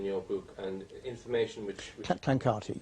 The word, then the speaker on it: Clancarty: Clancarty, yeah. Oh, is that how it's pronounced?